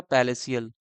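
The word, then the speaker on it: palatial: Next हो जाएगा पैलेसियल। लिखा है इसका टी साइलेंट हो रहा है।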